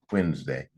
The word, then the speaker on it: Wednesday: day when Nas day now I know it doesn't sound that way when we say it we all smoosh it together Wednesday hey there's no Z